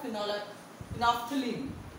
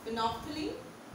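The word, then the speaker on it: phenolphthalein: है आपका फिनॉल एप्थलीन, नॉप्थलीन बोलते हैं इसको, स्पेलिंग लर्न कराने के लिए मैं फिनॉल ऑप्थलीन बोल रही हूँ, लेकिन आप लोग ध्यान रखिए इसका नाम होता है फिनॉल नॉप्थलीन, TH A L E I N, फिनॉप्थलीन।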